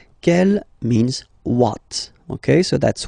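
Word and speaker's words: quelle: that q l l but it's pronounced like the masculine form Kell the masculine k at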